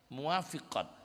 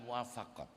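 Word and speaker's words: موافقات: enggak ada rasa sedih muwafiqat bacanya bukan muwafaqat kalau almuwafaqat itu karya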